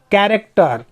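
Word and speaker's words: character: कैरेक्टर। कैरेक्टर मतलब होता है चरित्र। क्रॉनिक। क्रॉनिक मतलब पुरानी, दीर्घकालीन। क्रिश्चियन। क्रिश्चियन मतलब ईसाई धर्म। सब में यहाँ पे CH से क उच्चारित करेंगे।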